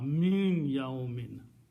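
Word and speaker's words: مِن يَوْمٍ: When noon and ya come together, you pronounce this noon as a hunna. Min yaumin, not min anymore.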